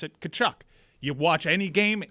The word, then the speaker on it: Tkachuk: I'm glad you mentioned that, because last week I was told that I've been pronouncing Matthew Tkachuk's name the wrong way, that it's supposed to be Tkachuk.